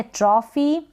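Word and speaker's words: trophy: ये है ट्रॉफी, क्या है, ट्रॉफी, पी एच को फ पढ़ा, ट्रॉफी।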